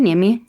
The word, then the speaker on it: Niemi: I'm Nim, like you said, and you nailed it. the pronunciation of my last name.